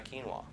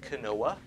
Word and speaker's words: quinoa: that's what it is a lot of people pronounce it Canoa because that's what it looks like but it's how do